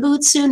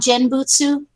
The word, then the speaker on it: genbutsu: trying to explain its game bhutesu not genbutsu genbutsu yes Jim okay so yes